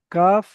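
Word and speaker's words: كاف: আর কাফের মাখলা হল জিহব্বার গোড়া হতে একটু আগে ওই সোজা উপরের তালের সঙ্গে লাগিয়ে কাফ উচ্চারণ হয়।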